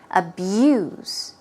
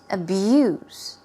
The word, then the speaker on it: abuse: we go it's a B USC but it's pronounced with a O's Z sound abuse abuse abuse don't abuse your credit card it means